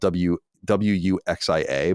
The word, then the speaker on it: wuxia: This is apparently a genre in Chinese fiction called, it's spelled Wuxia, but I think it's pronounced wuxia.